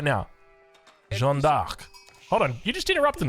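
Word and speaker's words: Jeanne d'Arc: traction of the videos now I may have mispronounced jovar just then so let me pronounce it correctly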